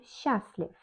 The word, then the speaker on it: счастлив: On счастлив, on écrit счастлив, mais on dit on счастлив.